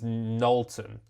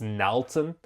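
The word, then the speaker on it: Nalton: So my name is Nolton but it's spelled N A L T O N. But because it's N A, they just immediately assumed it's Nton and they called me Narodon.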